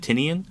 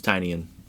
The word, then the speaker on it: Tynion: It's I've always said Tinian. It's Tinian. It's James Tinyian. Like, you've heard it pronounced. Uh, cuz I've heard a million people say Tinian. Yeah. I But I believe it's Tinyian because he created like a um like a publishing house and it's called Tiny Onion.